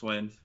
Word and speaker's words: Gschwind: Am I pronouncing that, by the way, right? It's just Gschwind.